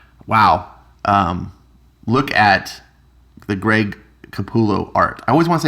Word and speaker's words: Capullo: The double L is the Y sound, Capullo. So I just naturally was pronouncing that. And he's like, dude, it's Capullo.